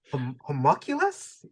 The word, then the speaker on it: homunculus: yeah, the word homunculus. How do you pronounce?